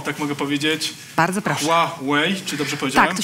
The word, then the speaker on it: Huawei: Huawei, czy dobrze powiedziałem? Tak, to się nauczyliśmy, proszę państwa. Hua jak Huasko, Wei jak droga po angielsku, tak się wymawia naszą markę Huawei.